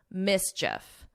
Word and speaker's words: mischief: But here, you don't hear that long E. And it's just like if you were saying if, mischief.